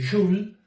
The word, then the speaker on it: joule: Las unidades de calor nosotros vamos a utilizar dos tipos de unidades, que son, una es el joule, que se escribe joule, se lee joule, y que se simboliza